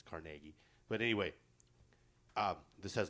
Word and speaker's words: Carnegie: it out i've been told that's the proper pronunciation's not carnegie that's what we say out here but it's carnegie but anyway uh this has lenny on it